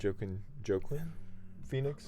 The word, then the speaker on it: Joaquin Phoenix: How do you pronounce his name? Joaquin Phoenix. Joaquin Phoenix.